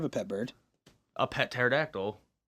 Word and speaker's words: pterodactyl: A pet pterodactyl. The P is silent.